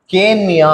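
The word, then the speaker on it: கேண்மியா: கேன் மியா மியா மீ கேன் மியா எப்படி சொல்றாங்க எப்படி உச்சரிக்கிறாங்க கேன் எழுதும்போது அப்படி எழுதுவாங்க உச்சரிக்கும் போது கேன் ம் யா அதே மாதிரி சென்மியா மீ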